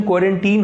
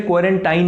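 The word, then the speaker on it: quarantine: क्वारंटीन शब्द की pronunciation क्वारंटीन होती है, क्वारंटाइन नहीं। बहुत से न्यूज़ चैनल्स पे भी इसे क्वारंटाइन कह के बोला जाता है, पर वो गलत है। अमेरिकन इंग्लिश में भी इसे क्वारंटीन बोला जाता है और ब्रिटिश इंग्लिश के हिसाब से भी इसकी सही प्रोनाउंसिएशन क्वारंटीन ही होती है।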